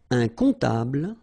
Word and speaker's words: comptable: Un comptable, so OM, remember, it goes like on, alright? And then, strangely, this P is not pronounced.